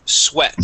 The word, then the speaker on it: sweat: badge badge excellent okay this word here is sweat so it's going to be a short e sound sweat sweat okay one more